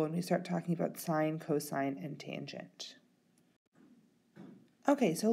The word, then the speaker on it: sine: The first one is sine. The second one is cosine, and the third one is tangent. Now be careful that you don't pronounce this as sin, as it is sine, cosine, and tangent.